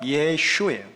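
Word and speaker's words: 耶穌: 이게 중국어로 읽으면 예슈예요. 예슈. 중국어는 원래 제대로 읽혀지는데 이게 한국말로 읽을 때는 야소라고 읽는 거예요.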